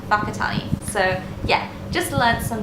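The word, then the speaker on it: Whakatāne: Like this spelling here, you would think is pronounced Wakatani, but it's actually pronounced Wakatani.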